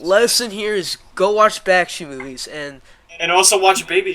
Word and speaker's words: Bakshi: Bakshi. Bakshi. Yeah, that's how you say it.